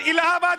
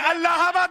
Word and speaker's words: अल्लाहाबाद: अरे बिल्कुल नहीं, और इलाहाबाद नहीं अल्लाहाबाद बोलिए। अरे इलाहाबाद नहीं अल्लाहाबाद, अंग्रेजी में। अरे स्पेलिंग बता दीजिए, अल्लाहाबाद बोलिए। अगर ठीक से प्रोनाउंस करेंगे तो अल्लाहाबाद होता है, इलाहाबाद नहीं होता।